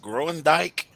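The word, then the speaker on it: Groendyke: called I think yeah I think you pronounce it growing Dyke no my uncle works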